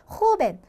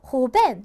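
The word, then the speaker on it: joven: 두 번째 모음에 강세가 들어간다. 왜냐하면 ns 모음으로 끝났기 때문에. 그러면 얘를 우리가 발음을 할 때, 읽을 때 호흡. 그래서 강세가 들어가는 부분을 좀 더 높고, 음이 높고, 세고, 길게 발음을 해주시면 돼요. 호벤. 그 다음에 만약에 얘를 우리가 강세 규칙에 따르지 않고 호벤 이렇게 해버리면 틀린 억양이 되어버리는 거죠.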